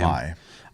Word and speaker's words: Mai: Mai.